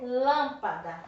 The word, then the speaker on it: lâmpada: em três sílabas e eu posso classificar ela faz pela a tônica não é a última não é a penúltima é a antepenúltima então é proparoxítona olha como é fácil